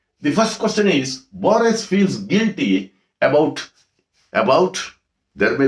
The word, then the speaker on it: Borges: So here G is silent. You should not pronounce it as Borges. It is Borges, right?